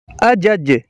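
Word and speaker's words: adjudge: का D silent है अजज अजज का मतलब है जांच करना अजज का डी साइलेंट है अज्ट अजूटर है फौज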